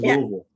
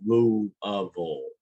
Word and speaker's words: Louisville: How was Louisville?